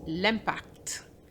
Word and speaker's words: impact: That was l'impact. And you do pronounce the T even though you may have learned that the final T is silent.